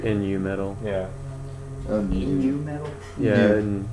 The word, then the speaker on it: Nu metal: moment it's corn so that's probably that's like Nu metal yeah metal yeah it's new yeah I I